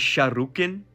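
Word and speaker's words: Sharrukin: Now, I'm pretty sure the true pronunciation of the name Sargon is Shahukin, which means the king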